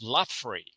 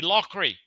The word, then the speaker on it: Loughrey: That's how Look, my my name originally was Lafrey. My father was called Lafrey. That's how we pronounce the name.